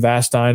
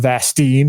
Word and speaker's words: Vastine: So yeah, Troy Leneve and Jonathan Vastine. It's not Vastine, it's Vastine.